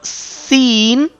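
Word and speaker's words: س: practice this letter according to the point of pronunciation of this letter Seen. How you can read, how you can sound like Seen without nasal sound.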